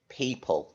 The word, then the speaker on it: people: The O and the E. Because the E and the O in the middle of people make an E sound when it's actually a apple. And we don't say the E, do we? The L and the E make the L sound.